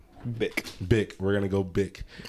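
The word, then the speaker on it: Bich: Oh, actually, his name is pronounced Bick. Bick.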